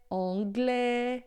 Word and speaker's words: anglais: Agora, se termina em E, assim, ó, japonês, irlandês, anglais, então esse A e S aqui em francês vai ter sempre som de E.